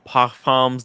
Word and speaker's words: Parfums: Tim, thoughts on Parfums de Marly. Is that how you pronounce it, Marco?